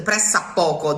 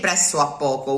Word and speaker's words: pressappoco: The pressappoco, that O disappeared. We don't say presso a poco, we say pressappoco. Pressappoco, spelled like that without the O. It's the 2 P's that you need.